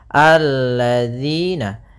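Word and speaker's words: الَّذِينَ: kita baca di sini alladziina Kemudian pada lafal dzi di sini hati-hati dalam pelafalan dzi Jangan dibaca alladzina yang sering terjadi kesalahan adalah membacanya dalal dengan Zai kemudian di sini ada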